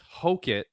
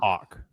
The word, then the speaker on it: Hokit: But to clarify for everybody, it's Hoit, the Incredible Hulk, not Hawk.